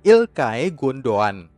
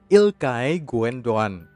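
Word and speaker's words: İlkay Gündoğan: Manchester City tahun 2016 cara membaca nama pertamanya bukan seperti Oke dalam bahasa Inggris tapi ilkai pada nama keduanya huruf g kedua tidak dibaca jadi penempatan yang benar adalah ilkay gundogan ilkay gundogan sekali lagi ilkay gundogan ingat saja tempe mendoan dari Banyumas ilkay gundogan nama pemain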